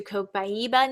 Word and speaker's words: Copaiba: All right, let's go to Copaiba next. This is pronounced copaiba.